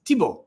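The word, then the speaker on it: Thibault: guy and he says his name is tibo or tibo and tibo and I'm like tibo is it French he goes yeah I said wait spell it he spells it th h i b a u l t tippl from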